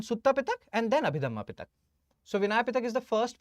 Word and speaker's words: Pitakas: holy scriptures, that is Pitaks. You call them Pitaks. Fine. Pitaks. You must have heard about Pitaks, but most of the people call it Pitakas. In actual pronunciation term, they are Pitaks.